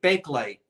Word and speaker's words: Bakelite: you accent it or not so it's really Bakelite that's how it felt and that's that's how